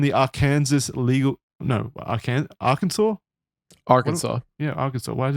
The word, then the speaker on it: Arkansas: I'm actually reading well Kansas is a state in the US and AR Arkansas is the same but it is spelled just AR then Kansas yeah so was pronounced Arkansas okay the prosecution in